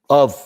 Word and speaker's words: of: of는 f가 여기 나오지만 발음은 v 발음이에요. v. 그래서 아래 입술을 윗니에다 살짝 떼고 v 떨어줘야 돼. 살짝. 윗니가 아래 입술에 살짝 떨어줘야 됩니다. v. 그래서 of lake Galilee.